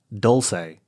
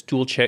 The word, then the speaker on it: dolce: I'm used to yeah my gripe about Starbucks is they pronounce Dulce instead of Dolce yeah okay oh they say what do they say mostels at least in California most uh Starbucks Baristas say Dulce and it's tool chair it's like a cha